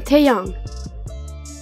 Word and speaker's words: Taehyung: Kim Taehyung. On retrouve une nouvelle fois notre ami Kim. Quant à son prénom, il comporte les lettres T et E, puis la syllabe Hyung, ce qui donne Taehyung.